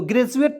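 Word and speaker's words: graduate: पढ़ेंगे क्यों क्योंकि देखिए डी के तुरंत बाद यू ए टी ई आया तो इसका उच्चारण जो हो जाएगा यहां देखिएगा ज के रूप में होगा होगा कि नहीं तो ग्रेजुएट पढ़ेंगे यहां देखिए जी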